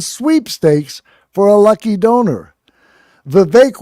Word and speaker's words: Vivek: Vivek Rhymes with Cake offered to return 10% of contributions to those who donated to his campaign.